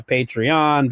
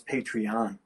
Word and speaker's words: Patreon: So I like the way you pronounce Patreon. Oh, isn't that how it's pronounced? Well, Patreon. You're putting a lot of emphasis on the syllable.